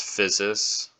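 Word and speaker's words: physis: usually pronounce this as usia this usually gets pronounced as physes um I will write this one below uh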